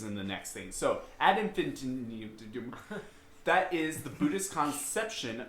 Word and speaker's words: ad infinitum: Infinitium. Ad infinitum. So ad infinitum. Yeah. As far as I'm losing the syllables, he's gaining more.